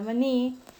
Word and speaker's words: maní: La palabra maní, su mayor fuerza de voz recae en la última sílaba. Por lo tanto, es una palabra aguda y es tildada ya que termina en una vocal.